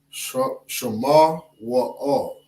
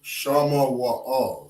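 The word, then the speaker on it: שמואל: Right, when we pronounce that in the Lashawan Qadash, we say Shema Wa'al. Okay, or Shama Wa'al, Salakia. Shama Wa'al. Shama Wa'al is how you say Samuel in Hebrew.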